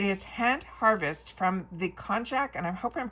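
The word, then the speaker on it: konjac: We have from bathroom conjac walnut shelled exfoliating body sponge.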